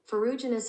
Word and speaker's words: Ferruginous: Okay, this is how you pronounce it. Ferruginous hawk.